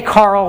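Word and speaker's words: Karel: named after carol and some people say carl which is kind of actually closer to i believe i don't know if there's anyone who speaks check in the room but closer to the actual pronunciation but we say carol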